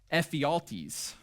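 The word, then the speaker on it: Ephialtes: uh a Greek man named Ephaltes, that's actually how you say it, who had been rejected by the Spartans for military service due to his physical limitations.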